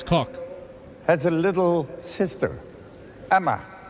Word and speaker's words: Kok: And I didn't pronounce it right. It's Koch.